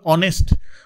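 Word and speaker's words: honest: এটা আর্টিকেল হবে অনেস্ট, অনেস্টের মধ্যে এইচটা সাইলেন্ট থাকে, ওটাকে প্রমিনেন্ট করা হয়।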